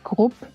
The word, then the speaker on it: Grupp: Yeah, in like German pronounce, it's Grupp. It's like group, but the German way. So it's with a short U, so Grupp?